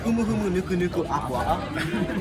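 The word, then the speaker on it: humuhumunukunukuāpuaʻa: So, yeah, it's pronounced humu humu nuku nuku aqua.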